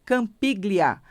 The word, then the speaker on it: Campiglia: com a no final campiglia assim como se fala glia no final tá para que você